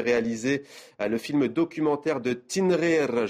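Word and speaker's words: Tinghir: le film documentaire de tinrir je le prononce en berbère de tinrir à Jérusalem les échos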